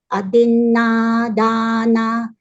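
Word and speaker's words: adinnādānā: Panatipata, Veramani, Sikha, S-I-K, Sikha, Padang, Samadhiyami, Adina, Dana. Adina is short. Adin is short sound. Adina, Dana.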